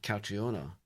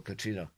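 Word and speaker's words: Catriona: So, I read um Kidnapping and I read Kreiona and um that's how we pronounce it. A lot of people call Katrina, but I've moved to a double country.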